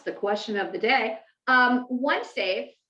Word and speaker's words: OneXafe: OneXafe, spelled with an X, OneXafe, because X is the new S.